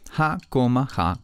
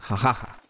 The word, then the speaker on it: jajaja: debería pronunciar jajaja explicación si lo escribimos pegado inmediatamente queda convertido en una palabra si es una palabra terminada en vocal y no tiene tilde en la última sílaba quiere decir que es palabra grave o sea que lleva el acento en la penúltima sílaba por eso su pronunciación debe ser jajaja las palabras del español